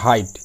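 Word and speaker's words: height: যেমন হাইট, এখানে I এর পর GH আছে, সেই জন্য GH উচ্চারণ হবে না, জাস্ট হাইট হবে।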